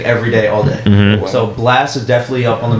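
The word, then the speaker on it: Blxst: first guy uh it's blast have you ever heard him no it's spelled blx st kind of put me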